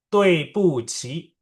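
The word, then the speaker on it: 对不起: Kenapa Dui Buki dibacanya jadi Tui Puci?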